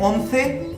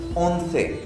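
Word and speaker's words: once: 11 को बोलते हैं ओंसे, ओंसे।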